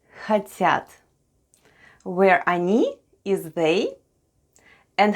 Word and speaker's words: хотят: The first sound is H, then goes O, and O is unstressed and is pronounced as A. Then goes T, then we have Ya, and then we have T. And all together it's хотят.